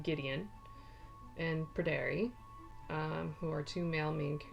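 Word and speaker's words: Gwydion: and then we have, I hope I'm saying this right because it's Welsh, I believe it's just pronounced like Gideon, and Pryderi.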